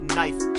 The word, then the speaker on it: knife: She said, "The K is silent."